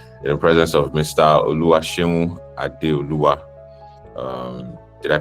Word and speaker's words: OluwaSeun Adeoye: OluwaSeun Adeoye. Did I pronounce that well? It's OluwaSeun Adeoye, actually.